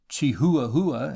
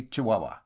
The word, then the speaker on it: Chihuahua: used to write fondly pronounced chihuahua in london but locally chihuahua i broke my journey